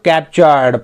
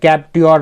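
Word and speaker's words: capture: को, तो उसको कैप्चर, यहाँ टी को च उच्चारित कर रहे हैं ना, हम प्रोनाउंस कर रहे हैं, कैप्चर बोल रहे हैं, कैप्ट्योर नहीं बोल रहे हैं।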